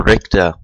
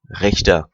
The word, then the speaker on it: Richter: Roger Richter, or Richter, because I'm familiar with the German language and pronouncing it Richter is absolutely wrong. But there is no sound in the American language, so that the CH becomes a K, whatever.